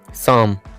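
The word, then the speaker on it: psalm: ठीक है, next word है साम। अब इसमें क्या पी साइलेंट है, तो इसलिए ये शाम पढ़ा जा रहा है, और अगर उसको से को शेयर कर दें तो वो हो जाती है शाम।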